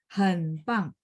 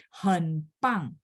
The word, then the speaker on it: 很棒: 很棒. B baca P, tidak ada angin ya. Jadi 很棒, hebat, sangat hebat.